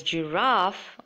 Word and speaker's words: giraffe: So in the first word, you can either pronounce it as giraffe or giraffe. It's not giraffe. Okay? It should be giraffe. Usually the Americans say it as giraffe, and the British people say it as giraffe. So suit yourselves whatever way you like it.